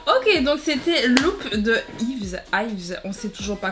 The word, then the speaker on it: Yves: Bon, on va dire Yves du coup parce qu'en Angola c'est Ib. Donc comme il n'y a pas de V et que le V en fait c'est le B, donc on va dire Yves. Comme ça on prononce bien.